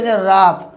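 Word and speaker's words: rough: তারপর আরেকটি উদাহরণ দেখুন আর ও ইউজি এইচ এখানে শেষে আছে উচ রাফ রাফ মানে ঘসা কিন্তু দেখুন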